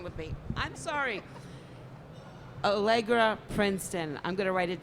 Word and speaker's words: Allegra: back Jamie works at Princeton oh my god allegro Princeton I will get it right I am